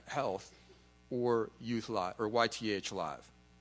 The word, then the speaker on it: YTH: We just launched it 2 days ago, and you pronounce it YTH.